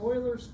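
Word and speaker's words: Euler: all heard of and I always say this wrong so I want to make sure I get to say this right this is called Oilers formula or 's formula I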